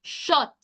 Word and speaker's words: shot: u sound and remember the pronunciation for this word is not sh but shot which means we're not looking for the short o sound so we can cancel